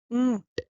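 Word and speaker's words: ऊँट: Then camel in Hindi is called oont. Oont. Mm, mm, This is a very slight n sound, which it's a nasal sound.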